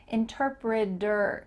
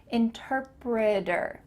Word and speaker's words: interpreter: might be an interpreter interpreter do you notice that same thing happening at the end of this word it sounds like d e r interpreter i'm a writer again